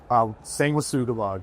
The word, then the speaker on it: Sanguisugabogg: I'm not even going to try to pronounce it. You do it again. Sanguisugabogg.